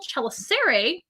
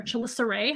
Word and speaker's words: chelicerae: And then they have little chelicerae, or chelicerae, however you want to pronounce that. Chelicerae is probably the most popular way.